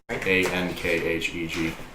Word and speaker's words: ankheg: Ankheg.